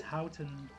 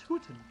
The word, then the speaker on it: Houten: pronounce that as Houten, but apparently it's Hooten.